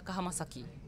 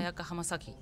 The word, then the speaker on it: Ayaka Hamasaki: Ayaka Hamasaki. One more time. Ayaka Hamasaki.